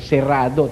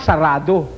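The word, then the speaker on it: cerrado: Ang tamang pronunciasyon eh serado eh. Mga ninuno nating hindi marunong talagang kastila ginawa sarado. Ayon sarado pero talagang serrado.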